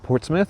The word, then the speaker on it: Portsmouth: So, we are like 20 minutes from um Portsmith, which is spelled Portsmouth, even though everybody keeps calling it Port Smith, which is really confusing me.